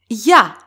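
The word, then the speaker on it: για: For example, ya. We have epsilon iota and alpha. And as you can hear, they are pronounced together. Ya. So it is considered one syllable. That's why ya does not get an accent.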